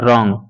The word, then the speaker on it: wrong: W को अगर हम लोग साइलेंट कर देंगे तो इसका हो जाएगा उच्चारण रॉन्ग।